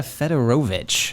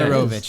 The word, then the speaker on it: Fedorovich: So we have Joe Vulpis over on the left, Joe everyone, and we also have Fedorovich. Wow. Is that how you pronounce it? Yeah. was good. Fedorovich.